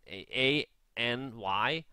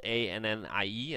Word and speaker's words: Annie: Any, as in A-N-Y. Any. Any, but this is spelled A-N-N-I-E as a name, Annie.